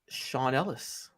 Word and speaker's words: Ellis: It is Sean Ellis. Yes, it rhymes with Ron Dellis.